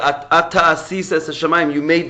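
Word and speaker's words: אתה: But it's pronounced Ata, but it's spelled At.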